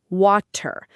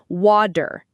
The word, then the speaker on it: water: If you pronounce it with a hard T, it sounds like water. But in American English, it almost always becomes water.